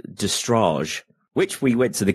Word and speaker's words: Destrage: I would never have gone with Destrage had I not been at a gig and heard, you know, the wonderful little guys up there in their Italian accents going, "Hi, we are Destrage!" And it's like, Destrage.